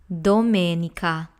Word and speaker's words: domenica: lesson so going back to domenica we have door may Nica Dominica that's Sunday now let's move on to Luna D Luna D has three syllables Lu nay d that's Luna D and